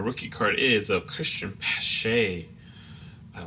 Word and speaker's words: Pache: be wrong, and so I think Pache is pronounced like that, Pache.